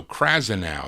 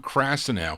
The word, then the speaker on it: Krasnow: early production by Bob crass krasnow Bob no krasnow that's how you pronounce it Bob krasnow who subsequently would be the executive revitalizing Elektra